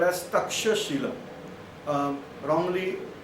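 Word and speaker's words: Taxila: west side of jalum that was called as Tash Shila um wrongly pronounced as taila but actually the word is tasila so this is the tasila provinces now four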